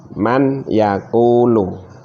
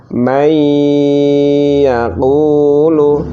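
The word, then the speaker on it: من يقول: Aslinya seperti ini membacanya, man yakulu, man yakulu. Karena nun sukun bertemu ya, maka harus dimasukkan, diidghamkan. Diidghamkan dengan cara mendengung, maka dibaca seperti ini, may yakulu, may yakulu, seperti itu.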